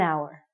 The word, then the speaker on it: hour: sounds like a vowel because the H is silent we have to say an hour okay you got it you're with me an hour so and we used